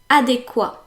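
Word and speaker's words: adéquat: word number nine is adequa adequa ends with a t and everyone pronounces the T but the t is meant to be silent so French people often say adequate instead of saying adequa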